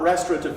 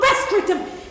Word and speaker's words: restorative: No, Jan, it needs the two of us to do that, not restorative justice, if that's what For God's sake! It's not restorative, it's restorative. Can you at least pronounce the bloody thing properly?